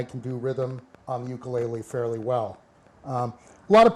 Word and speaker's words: ukulele: first really popularized the I'll use the correct Hawaiian pronunciation, ukulele.